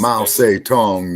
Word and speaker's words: Mao Zedong: Mao Zedong is the correct pronunciation.